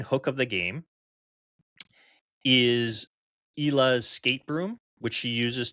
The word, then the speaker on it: Ila: So, I would say that this game, and I'm glad that we now have the pronunciation right, which is ELA.